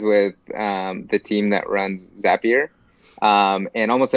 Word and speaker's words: Zapier: the team that runs zapier and almost everybody says a peer and then it's not until they kind of came up with a tagline exactly or makes you happier that they they finally